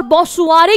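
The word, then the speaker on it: bonsoir: बॉसुआ, बॉसुआ, सुआ, आर नहीं pronounce करेंगे। मैंने आपको बताया कि फ्रेंच में आर वर्ड का प्रोनाउंसिएशन नहीं होता है, बॉ सुआ।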